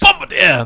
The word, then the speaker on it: Bombardier: Bombardier!